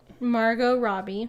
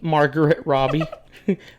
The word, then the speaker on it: Margot Robbie: Robbie Margot Robbie yeah I always say her name wrong what do you what do you say Margaret Robbie but it's yeah it's your Spanish accent I know it is it's that heavy thick accent you got uh yeah